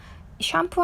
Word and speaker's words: shampoo: 샴푸 하면은 여러분 발음이 샴이에요. 샴푸. 강세는 뒤에 있고 샴푸라고 해요.